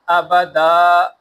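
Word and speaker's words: آبادًا: تو آبادن، وقفن آبادا، دا پڑھیں گے اس کو وقف میں، آبد نہیں بولیں گے۔ اور دو زبر کی تنوین کے اندر آگے دیکھیں الف لکھا ہوا ہے، تو الف کو ہجے کے اندر بولیں گے بھی نہیں، لیکن وقف میں اس الف دو زبر کو الف سے بدل دیں گے، آبادن وقفن آبادا۔ حمزہ زبر ا، ہا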